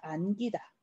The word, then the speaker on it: 안기다: 그래서 안기다 같은 경우 안기다가 아니라 그냥 안기다.